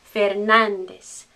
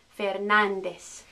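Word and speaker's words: Fernández: that's us in spanish fernandez fernandez fernandez remember this accent tells me to pronounce this syllable with stress so instead of saying fernandez i'll say fernandez fernandez next one rodriguez rodriguez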